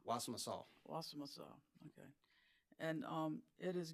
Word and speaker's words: Wassamassaw: Wassamassaw? Wassamassaw.